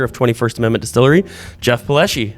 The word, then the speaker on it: Palleschi: owner and operator of 21st Amendment Distillery Jeff paleschi how are you good man the first question I have for you is did I pronounce that right yes okay so you got it most people say don't they either ones yeah all right yeah